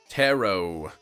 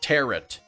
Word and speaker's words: tarot: do it now tarot tarot cards not teret come on alkash you pronounced it wrong all right all right I did a Tarot cards all right all right I said it wrong okay um the tea is silent anyone ever anyone here